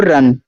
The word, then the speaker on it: run: देखो जब दो कॉन्सोनेंट्स के बीच में आपका यू दिया जाए तो यू का उच्चारण होता है आ के रूप में।